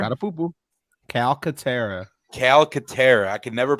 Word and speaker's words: Calcaterra: Cataterra? Catapupu. Calcaterra. I can never pronounce.